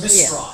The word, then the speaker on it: Mistras: Mistras. There you go. Because I've had it pronounced to me several different ways.